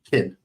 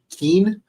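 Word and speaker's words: Qin: yeah uh q i n now that's actually pronounced kin right so that's how it but in uh in season three I think they pronounce it Keen or something like that they're like Keen dogs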